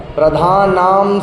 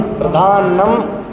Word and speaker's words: प्रधानम: दूसरा जो मंगलम भगवान वीरों में हम बोलते हैं अंतिम पद प्रधान नाम सर्वधर्माणाम, तो वो गलत है। प्रधान नाम नहीं, प्रधानम सर्वधर्माणाम।